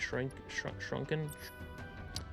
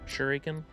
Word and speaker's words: shuriken: 4-point shrunken. Shuriken. That's how you pronounce it.